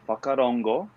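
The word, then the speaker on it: whakarongo: thank you so so this one is called fakarongo um it's a maori word from new zealand a maori word that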